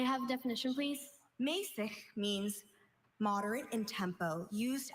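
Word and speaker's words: mässig: Mäßig. Mäßig. Mäßig. Can I have the language of origin, please? Mäßig is from German. May I have a definition, please? Mäßig means moderate in tempo, used as a direction in music.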